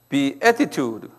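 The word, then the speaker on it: Beatitude: 근데 걸 bde 이게 붙은 말인데 이게가 하나예요 be attitude 그래서이라 붙은 말인데 이것을 뭐냐면 산상수훈이다 이렇게 말 한번 발음해이 음이 be attitude 그래 be attitude 그래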